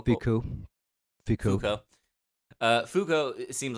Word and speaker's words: Foucault: But people like Foucault, who seem, am I saying it? What? How do you say his name? Foucault. Foucault. Fuku.